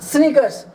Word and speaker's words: snickers: स्नीकर्स, SNI स्नी, KERS, इसका सी जो है साइलेंट होगा।